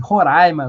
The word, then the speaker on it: Roraima: Eh, a Maria Assi Façanha diz: "Roraima se pronuncia como se tivesse acento agudo no ar". Eh, hoje vai ser difícil aqui. Roraima, Guiana.